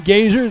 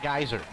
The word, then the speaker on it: Gazer: ben gazer the norwegian nightmare kickoff for cedar park not geyser not geyser love timberwolf night